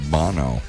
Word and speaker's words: Bono: about the band U2, I think it's technically pronounced Bono.